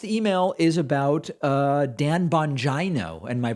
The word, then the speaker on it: Bongino: when you pronounce dan bongino's name incorrectly the i is pronounced as a long e and not an i bongino i only bring this